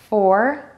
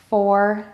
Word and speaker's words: four: Number one, round your lips for the O, then pull your lips back to say the R. It should sound like the word or. Let's try it. Four, four, four.